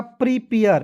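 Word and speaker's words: prepare: आगे बढ़ते हैं, PRE तो देखिए पढ़ेंगे PRE को पढ़ेंगे प्री, प्री पढ़ेंगे, प्रे नहीं पढ़िएगा, प्री, PARE पेयर, ठीक है, क्या हो जाएगा, प्रीपेयर, प्रीपेयर। आगे देखिएगा बिल्कुल ध्यान से,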